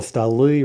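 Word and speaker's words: столы: Stol becomes stali. That's a hard noun, and we see also that that's in-stressed, as we should know in theory. So stol, stali, right? The stress jumps to the plural ending.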